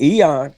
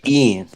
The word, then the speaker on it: Ian: And in Eon, well, I keep saying his name wrong. I'm calling him Cunningham. Ian. He Ian. Okay, Ian.